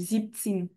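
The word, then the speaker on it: siebzehn: Non, c'est le B qui fait une petite sonorité de T en fait quand on dit ziptin.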